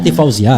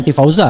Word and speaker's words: Tifauzia: Iya, Tifauzia. Ya, bukan Tifauza kan?